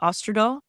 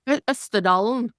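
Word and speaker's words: Østerdalen: Austerdal? Auster Austerdalen.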